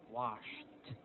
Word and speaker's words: washed: Okay, so like for example, washed. Washed. Of course, it's now pronounced as t, t sound.